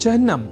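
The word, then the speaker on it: चिह्न: अर्थात चिन्ह में अर्ध हकार के बाद न इस अक्षर का संयोग होता है। न कि अर्ध नकार के बाद ह इस अक्षर का।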